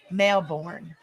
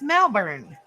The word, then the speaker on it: Melbourne: steps yeah yep Americans say Melborne melin well how is it spelled Ain it spelled l m e l b u r n e that's Melbourne or Melbourne that's Melbourne not born Melbourne I would call it